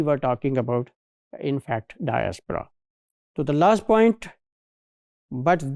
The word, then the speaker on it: diaspora: So if you want to become part of some diaspora I means diaspora, this is wrong pronunciation, this is diaspora.